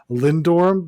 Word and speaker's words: Lindorm: Lindorm, the D also disappears. Yeah, D's are silent apparently in Danish, so it's actually Danish.